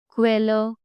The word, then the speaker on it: Quelle: Like Quelle, Qualität, Quiz. Q in German, Qui, say K and V fast together. Don't pronounce Q like English. It's never like Qui.